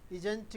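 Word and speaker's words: isn't: ही इज़ not going या फिर ही इजंट going. T को भी हटा सकते हैं इन अमेरिकन स्टाइल, तो यू कैन से या ही इजन गोइंग।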